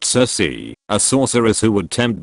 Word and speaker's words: Circe: Kirk comes from the Roman word cirque and cirque comes from the Greek mother Circe, pronounced Circe, a sorceress who would tempt men into her house, turn them into pigs and eat them.